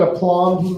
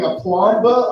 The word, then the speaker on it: aplomb: I don't even think I'm saying it right. B is silent. What is it? B is silent. I know, I was saying it to be funny. But what does it mean? You think I'd really be up here going aplomba?